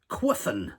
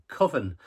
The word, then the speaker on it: Cwfen: Quofen. Now, I know that's not the pronunciation. I believe it's pronounced Coven, but it's spelled Cwfen.